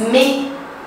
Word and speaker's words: mais: m a s como que é no francês me e se escreve m a e s então a gente